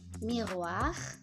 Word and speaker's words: miroir: Miroir, miroir. Ya. Jadi on le prononce quand ce n'est pas un verbe normalement.